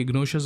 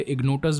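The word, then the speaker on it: Ignotus: अब हालांकि फ्रेंच में तो टी का श बन जाता है तो ये इग्नोशियस हो जाता है, लेकिन अगर इंग्लिश या हिंदी की बात करें तो ये इग्नोटस बनता है। तो प्रोनाउंसिएशंस डिफरेंट हो सकते हैं एज पर द लैंग्वेज, तो आप अपने अकॉर्डिंग इसे समझ सकते हैं।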